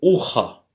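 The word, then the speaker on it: ухо: Alors, le Y, c'est pas un Y, mais c'est un OU, et se prononce comme OU, bien sûr, et c'est ucha. Ucha, c'est l'oreille, ucha. Le O est prononcé comme un A, quelque chose comme un A faible, hein, puisque l'accent n'est pas sur le O.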